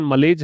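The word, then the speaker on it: malaise: Deeper मलेज, इसकी pronunciation मलेज है।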